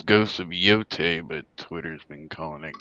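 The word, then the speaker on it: Yōtei: ghost that's the new one how did they pronounce ghost of what it's ghost of yot but Twitter's been calling it ghost of woke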